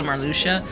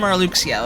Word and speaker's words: Marluxia: So we got Marluxia, aka actually Marluxia. When I was growing up, I called that man Marluxia, okay? Everybody and their mom called that man Marluxia, okay?